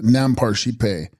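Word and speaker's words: རྣམ་པར་ཤེས་པ: Nampar Shis Pahe, pronounced Nampar Shipe, Sanskrit Vijnana Skanda, resolved into its primordial state, which is the blue light.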